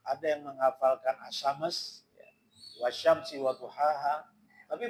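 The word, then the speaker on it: والشمس: Nah dia baca as syamsi seharusnya kan as wasyamsi ya wasyamsi wuha dibacanya wasisamsi wuha karena dia baca transliterasinya.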